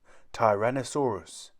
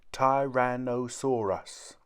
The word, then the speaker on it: tyrannosaurus: got its name how do you say it tyrannosaurus say tyrannosaurus on the beach on a sandy beach there